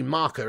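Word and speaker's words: Marca: or marker it's not i always call it master like bahasa but it's actually marker isn't it but anyway enough enough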